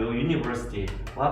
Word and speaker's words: university: 하지만 글자가 비슷하게 보여도 대학교, university와 같은 경우는 처음 글자가 마찬가지 U로 시작을 하지만 얘의 발음은 U.